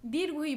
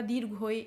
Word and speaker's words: দীর্ঘ ই: হবে রস ই নেক্সট এটি দীর্ঘ ই বলে থাকি বা দীর্ঘই এরকম কিছু বলে থাকি কিন্তু এটি শুদ্ধ উচ্চারণ হবে দীর্ঘ ই একটু টান করে হবে ই এরকম অনুরূপভাবে এটি হবে রস